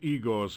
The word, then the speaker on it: Igor: That's Igor's current tombstone masterpiece. He's been having trouble keeping a head of business lately. And also it's pronounced Igor.